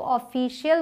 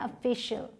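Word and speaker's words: official: Next is, इसे बहुत सारे लोग ऑफिशियल बोल देते हैं, लेकिन ये क्या है? ऑफिशियल। यहाँ भी ओ का साउंड अ है, ऑफिशियल।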